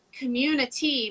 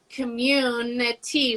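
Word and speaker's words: CommiTea: just so everyone knows it is community but it's commune tea with can you spell it for us so the tea part is like the tea you drink so it's yes so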